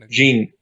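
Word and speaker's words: Jeanne: jean veloz i think jean jean that's how it's pronounced in french so in in regards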